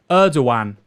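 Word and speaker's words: Erdoğan: The G in Turkish words represents a break in syllables, pronounced Erdogan.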